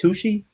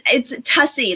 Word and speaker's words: Tuccy: Please help me welcome Tuccy. how are you? I'm so good, Ron. How are you today? Excellent. Now, am I pronouncing your last name correct, Tuccy? It's Tuccy, like fussy.